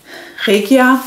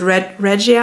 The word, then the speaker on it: Regia: It's called Regia. I think some of the English speakers pronounce it Regia, I'm not sure.